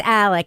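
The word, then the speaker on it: Alex: No, it's Alec. She says she says Elick because of her accent, but it's Alec. It's Alec Murdock.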